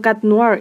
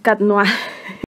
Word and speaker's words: Cat Noir: Lo voy a pronunciar mejor así. Porque estaba diciendo Cat Noir y es Cat Noir.